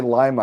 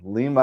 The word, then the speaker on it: Lima: Every time I say Lima, I think the bean. Lima, I think Peru. Yeah. Well, the Lima bean is the city's mascot too. There you go. That's a good way to remember the pronunciation then.